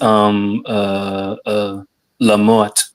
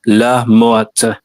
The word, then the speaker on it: la mort: the T is assumed. Yes, the MT is silent, but of course I'm from Louisiana.